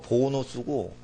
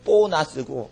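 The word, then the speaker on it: bonus: 라틴어 발음은 보누스고 한국 발음은 보나스고 그러는데 보누스라는 것은 선한, 좋은이라는 라틴어 형용사예요.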